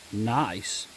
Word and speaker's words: gneiss: This rock is gneiss.